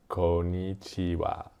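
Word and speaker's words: こんにちは: And I was like, why is it konnichiwa, but it is spelled ha? And then I had to learn what a particle is in Japanese, which is like a little sound that is added to show the role of that word. And so wa, konnichiwa, konnichiwa. Wa was originally pronounced ha, but it softened to wa, and now it's still written ha, but it's pronounced wa.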